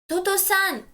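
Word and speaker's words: 弟さん: And somebody else's family is ototo-san. Ototo-san. Again, you are going to stress the syllable to over here.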